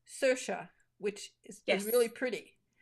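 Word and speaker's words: Saoirse: and what is I of course I recognized it as Irish right away and it's pronounced sersha which is is really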